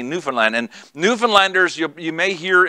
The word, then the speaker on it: Newfoundland: A lot of people say Newfoundland, and it's kind of how it's spelled. But that's not how they say it. They say Newfoundland.